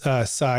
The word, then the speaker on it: Tsai: By the way, we're speaking with Sai. And by the way, you can pron you pronounce sai um like I'm saying it, but it's it's spelled ts ai.